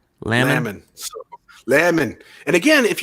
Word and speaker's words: Laman: John says it's pronounced Laman, like jam. Laman.